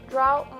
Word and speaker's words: drought: Drought must always rhyme with bout.